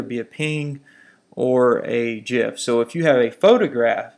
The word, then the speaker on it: GIF: use on the web gifs that's how the creator pronounces it don't argue ping images